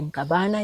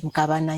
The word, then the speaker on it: Mkabana: I'm pronouncing it in Kiswahili, Mkabana. It is Mkabana in Kiluya.